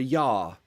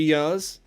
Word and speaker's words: year: For example, yeah, I've worked here for 3 years. Posh people are the worst. I pronounce it year, ear. The same pronunciation as ear.